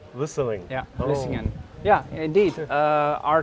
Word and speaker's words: Vlissingen: Vlissingen. Vlissingen.